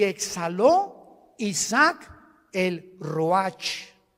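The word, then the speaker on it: ruach: y exhaló Isaac el Roach así como suena se pronuncia la c en hebreo como J ruaj se le só y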